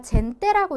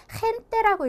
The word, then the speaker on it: gente: 자, 일단은 히읗이니까 얘를 우리가 젠떼라고 읽는 것이 아니라 헨떼라고 읽어줘야지 맞는 건데, 거칠게, 즉 우리가 가르침을 뱉고 싶을 때처럼 목을 이렇게 상처낸다, 긁는다라는 느낌으로 크크 칵칵 하는 소리로 발음을 해주셔야 돼요. 그래서 얘는 gente 이렇게 해주셔야지 정확한 발음이 되겠습니다.